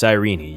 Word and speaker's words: Cyrene: And yes, her name is pronounced Sirene.